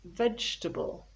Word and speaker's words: vegetable: finally we have vegetable people often say vegetable or vegetable vegetably but no i get like comfortable it is three syllables vegetable vegetable i love vegetables